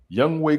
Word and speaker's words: Young Wei: Young Wei Koo, I used to say your name wrong, dog. I apologize. It's Young Wei, not Young Ho. Young Wei.